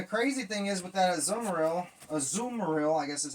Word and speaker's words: Azumarill: And the crazy thing is with that Azumarill, I guess is how you pronounce it. Ain't that how you pronounce it? Azumarill. Yeah, Azumarill.